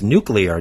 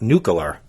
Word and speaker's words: nuclear: It's nuclear, not nuclear, or nuclear.